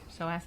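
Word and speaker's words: psoas: He pulled his So as muscle.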